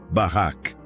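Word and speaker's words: בָּרַךְ: Para entendermos a profundidade disso, podemos olhar para a palavra hebraica barak. Se pronuncia barrac.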